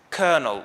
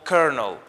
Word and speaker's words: colonel: you pronounce it as kernel or kernel so the l in the middle of the word is pronounced as an r the second mispronounced word